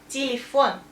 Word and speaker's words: телефон: That's two ye, but stress is here, and we say телефон.